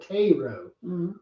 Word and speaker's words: Cairo: but they call it it's spelled Cairo like Cairo Egypt but they call it kro like kro syrup and anyway long story